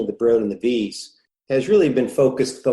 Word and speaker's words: Wyss: He's a professor of medical engineering and science at the Broad Institute of MIT and Harvard, and the Wyss Institute, which is spelled W-Y-S-S.